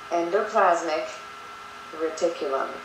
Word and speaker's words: endoplasmic reticulum: about pronunciation all right so Endo plasmic R Tulum okay want to try it with me endoplasmic reticulum and that is singular